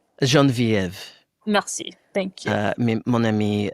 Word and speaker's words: Geneviève: So for those of you guys that don't know, Genevie is a comedian. Well, if you're gonna pretend to be French, at least say my name properly. Geneviève.